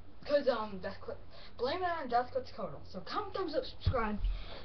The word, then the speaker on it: Quetzalcoatl: Just, that's Quetzalcoatl. It's actually pronounced Quetzalcoatl, but I call him Quetzalcoatl.